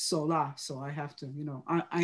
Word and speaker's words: Solá: There is an accent on the A. Solá means from out of the sun. That's what my father told me. It's not alone Sola, it's Sola.